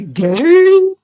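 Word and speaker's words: Gueye: Or as I like to say, Gay. Weird way to say it, but it is how tell how you say it's gay. Saying his name is gay.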